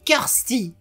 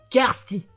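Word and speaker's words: Kirsty: y a la fille faut le prononcer cursty kursty il y a encore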